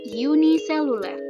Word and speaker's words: uniseluler: ada namanya makhluk hidup uniseluler jadi ini bacanya Yunia yaitu makhluk hidup yang